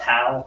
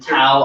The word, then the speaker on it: Dao: and Tao of Pooh or Dao, I think it's actually pronounced Dao. It's more of a D sound.